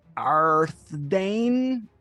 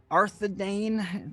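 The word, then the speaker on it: Arthedain: Province second only to the king's land of arthane arthadane when you're speaking lore maybe you should know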